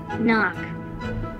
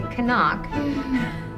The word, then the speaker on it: knock: for two words that have a silent k knock yeah that's right because of silent k remember we don't say kanak and i think he